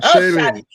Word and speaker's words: Shaleen: Not Shaleen. How would you pronounce it? Shaleen. Oh, Shaleen. Yeah. Like Sha, and then you lean to the side, like that.